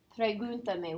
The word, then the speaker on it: pregúntame: Where's the accent at? Where's You. On? No, you said it right. On the U. Pregúntame. It's the third. So here's the me is the last accent, is the last syllable. The ta is the second to last. The third to last syllable has to be accented.